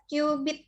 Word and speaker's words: cubit: menggunakan satuan namanya newbie Hai tulisannya cubit tapi dibacanya adalah cubit gitu ya jangkal ya Bu Iya nah satu